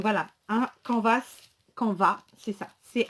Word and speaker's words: canvas: tout simplement donc voilà un camp va ce camp va c'est ça c'est à nv ares en français moi je ne prononce pas le m ok comme dans le